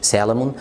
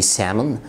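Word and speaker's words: salmon: مفيش حاجه اسمها في الانجليش سالمون، في سامون.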